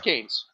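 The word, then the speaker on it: Cannes: uh it's called can it's pronounced cans by the way it's French you know how they are um uh but I don't respect French it's kan's I don't care this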